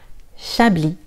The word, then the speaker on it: Chablis: Chablis, Chablis, le S est silencieux. Chablis.